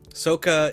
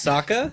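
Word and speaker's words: Sokka: sound super annoying and soccer is like that level don't you ever say his name like that saka sorry saka sorry saka you ong shall we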